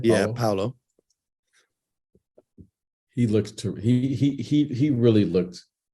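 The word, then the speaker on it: Paolo: Just based on what I've seen in the preseason, Paulo, is that how you pronounce his name? Yeah, Paulo.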